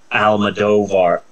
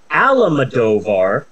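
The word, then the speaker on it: Almodóvar: in question Mr Pedro Alma dovar there's no I keep wanting to pronounce Pedro alamodovar but that's not his name bro Al madovar and I have a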